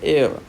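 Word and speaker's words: heir: तो एक्चुअल में इसकी साउंड है एयर, द एयर, आर भी साइलेंट, एच भी साइलेंट, तो दो लेटर साइलेंट हो जाते हैं।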